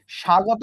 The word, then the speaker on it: স্বাগত: স্বাগত উচ্চারণের সময় তুমি কি ব কে পেয়েছিলা? না, ব কে পাও নাই। উচ্চারণটা জাস্ট স ছিল।